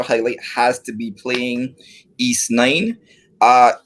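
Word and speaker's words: Ys: my pop culture highlight has to be playing east uh it's it's spelled y s uh so it's east nine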